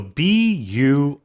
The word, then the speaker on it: buoyed: So B-U-O-Y-E-D. in a way, there's four vowels almost in a row, but it's Buoyed. buoyed. 2 syllables.